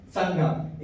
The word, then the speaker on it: संगम: संगम। इसका स्पेलिंग है संगमा। पर इसको हम लोग ऐसे पढ़ते हैं संगम नाम है।